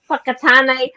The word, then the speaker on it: Whakatane: In New Zealand, we have words like names of places like Whakatane, Whakapapa. All these things like it's WHAKA, and it's pronounced Whaka.